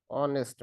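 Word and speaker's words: honest: পারি he like dash অনেস্ট ম্যান এইযে অনেস্ট হলাম এখানে কি ও উচ্চারণ হলো কি এইচটা অর্থাৎ সাইলেন্ট থাকলো অর্থাৎ কোন যদি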